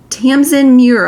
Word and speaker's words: Tamsin Muir: up so badly is Nona the Ninth by Tamsin Muir, I believe it's pronounced.